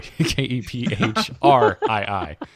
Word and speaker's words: Kephrii: Well, for our audio listeners, it's spelled Kephrii, or not F, sorry, Kephrii. Phonetically with an F.